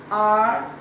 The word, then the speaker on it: hour: Hour, minute, day, week, now. Now is the odd one out. Others are all showing the time. H-O-U-R, H is silent, you say it R.